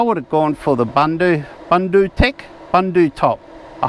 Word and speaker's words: Bundu Tech: earlier in the video someone from bundu Tech contacted me saying I'm not pronouncing it correctly I'm can do an abundance and it's Bundaberg is b-u-n-d-a and I think I've been saying bunder Tech Bunda Tech bundle top or something but he says he's